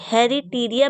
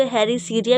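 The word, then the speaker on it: Heritiera: इसका स्पेलिंग है हे हैरी टी आई ई आर ए हेरी टीरिया मैं पढ़ती हूं उसको आप इसको हेरीसरिया भी पढ़ सकते हो दोनों प्रोनाउंसिएशन हो सकता है और जो तीसरा है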